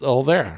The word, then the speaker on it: Olvera: I keep wanting to throw an extra syllable, an extra vowel in there, and Olvera, and it's not it's Olvera, right?